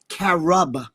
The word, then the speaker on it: carob: It was uh carob. C A R O B I think it's pronounced.